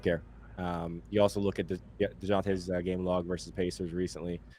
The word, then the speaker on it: Dejounte Murray: I think Dejounte Murray's gonna score a ton of points. Is it Dejounte? Dejounte. You pronounced the J.